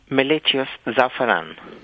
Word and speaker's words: Meletious Zafaran: So why don't you say it correctly so everybody knows the correct pronunciation? Meletious Zafaran.